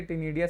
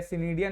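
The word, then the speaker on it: ctenidia: जो गिल्स होते हैं उन गिल्स को टिनिया बोलते हैं ठीक है टिनिया सिनिया नहीं बोलेंगे टिनिया सी साइलेंट होता है यहां पे तो उसको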